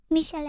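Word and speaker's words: Michel'le: Michele'le, Yeah. that's how you pronounce it, right? Michele'le? Michele'le.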